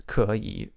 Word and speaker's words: 可以: It has 可以, but it's pronounced with the third tone goes up when you have 2 third tones together.